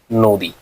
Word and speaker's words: নদী: এই বানান শব্দটা মূল শব্দটার উচ্চারণ কিরকম হবে, আমরা উচ্চারণ করব হচ্ছে নদী, কারণ আমরা দীর্ঘ ইকার উচ্চারণ করি না।